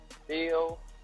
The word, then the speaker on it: Shpilka: The name of the vodka is called Spilka, pronounced Spilka, but it's spelled Shpilka.